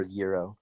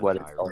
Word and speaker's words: gyro: and like I thinko definitely not gyro it's not gyro no I don't think so I heard Americans say that but it's Euro um I've had it